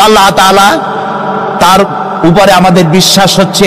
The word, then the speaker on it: আল্লাহ: বলেন তো আল্লাহ নয় কিন্তু আল্লাহ হচ্ছে অশুদ্ধ শুদ্ধ হচ্ছে আল্লাহ বলার সময় মুখটা গোল হয়ে যাবে বলেন তো সবাই উচ্চারণ করেন আল্লাহ আবার বলেন আল্লাহ আবার বলেন